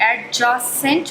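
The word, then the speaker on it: adjacent: Adjustable, एडजेसेंट, इसको आप लोग एडजेसेंट पढ़ते हैं। ये एडजेसेंट नहीं होता बल्कि एडजेसेंट होता है। तो जहाँ भी आपको ये डी और जे साथ नज़र आएगा उसमें डी हमेशा साइलेंट होता है।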